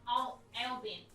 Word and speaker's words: Albany: So there's like Albany, but it's pronounced Albany.